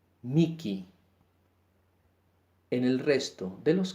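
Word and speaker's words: mihi: Cuando la H viene en medio de dos I, se pronuncia como la K, Miki.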